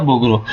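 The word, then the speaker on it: Bogros: एस इसमें ना silent होता है, तो स्पेस ऑफ बोग्रो।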